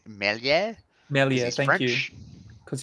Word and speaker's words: Meslier: So goalkeepers, Ramsdale and Meslier. I'm going to say that wrong. I believe it's pronounced something different. Gilby, would you like to correct me? I think it's Melier.